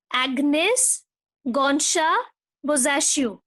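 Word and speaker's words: Agnes Gonxha Bojaxhiu: How to pronounce? Agnes Gonsha Bozaccio. I hope it's clear to you. You can even Google out for the pronunciation. Agnes Gonsha Bozaccio.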